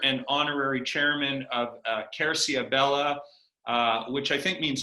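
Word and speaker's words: Querciabella: uh he is the owner and honorary chairman of uh kercia bella uh which i think means oak tree sebastiano yes is how you pronounce it and it's beautiful oak tree beautiful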